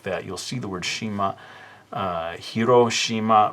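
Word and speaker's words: 島: Shima. Some of you may have heard the word Shima as parts of city names or things like that. You'll see the word Shima, Hiroshima, right?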